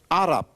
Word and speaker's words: Arab: Arab, that's how they pronounce it. Arab is English pronunciation.